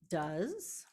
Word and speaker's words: does: because if I say do plus e s is Rewritten as does that's when we go oh no it doesn't like that just sounds wacky and so when we